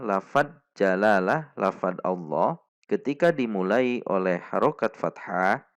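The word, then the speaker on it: الله: membacanya lafadz jalalah lafadz Allah ketika dimulai oleh harokat fathah maka huruf lam ini dibaca tebal atau SIM Perhatikan cara membacanya kesalahan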